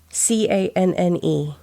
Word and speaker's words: Cannes: How do you pronounce Canne? No, that's not how. C-A-N. Yeah, that is. But it is S on the end, by the way. What is the Cannes Film Festival? Okay. Can. Yeah, it's the Cannes Film.